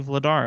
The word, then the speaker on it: Vladar: your games once oh it's actually vladar okay shout out to